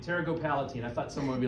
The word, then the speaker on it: pterygopalatine: Anyone know how you pronounce this word? Is that Tarot go palatine. Yeah, you guys, Palatine? yeah, you're right. Pterygopalatine.